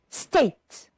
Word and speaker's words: state: Nation two syllables good state only one syllable pay attention because the e at the end is not pronounced so we just say State one syllable in inhabitants how many